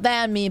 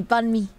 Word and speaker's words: bánh mì: Not ban me, bánh mì.